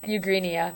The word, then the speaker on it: Eugenia: Yeah, Eugenia.